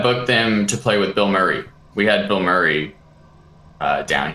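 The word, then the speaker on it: Bilmuri: Man, Bill Murray's mandatory. How do you spell it? B-I-L-M-U-R-I. Oh. Yeah. So that it's pronounced Bill Murray.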